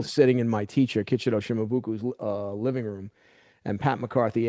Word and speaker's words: Shimabuku: Pat McCarthy asked him, Sensei, is it Shimabukuro or is it Shimabuku? And his response was, it's Shimabuku. I'm Okinawan. That's exactly what he Mm. said. So again, Right. the Right. Japanese pronunciation of Shimabuku is Shimabukuro. Right. He Right. doesn't want that.